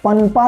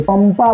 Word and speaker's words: पंपा: पनपा नहीं बोलेंगे। पंपा बोलेंगे। यहां पर म का उच्चारण म जैसा उच्चारण हो रहा है।